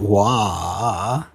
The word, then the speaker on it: Waugh: Yeah, it's definitely Scott Waugh.